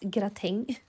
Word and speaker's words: gratäng: In Swedish it's gratäng. It's spelt very differently, but I thought that was maybe the French word was maybe the English word.